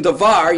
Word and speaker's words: davar: Hebrew words, unless otherwise marked, are accented on the last syllable. So in davar, you have 2 syllables, the accent would be here.